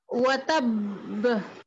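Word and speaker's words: وَتَبَّ: না না, এক বায়ের মতো উচ্চারণ হয়ে গেছে, ওয়াতাব। ওয়াতাব ওয়াতাব হ্যাঁ ওয়াতাব ওয়াতাব ওয়াতাব ওই শেষে কলকলার আওয়াজ ছেড়ে দিতে হবে ওয়াতাব ওয়াতাব জি জি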